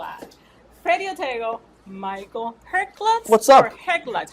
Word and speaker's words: Herklots: Ferio Tego Michael Herklots. What's up? Or Herklots. How do you say that? Herklots. Herklots.